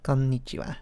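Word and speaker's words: こんにちは: Because the actual character is ha, but it's pronounced wa for some reason. I don't know. Konnichiwa.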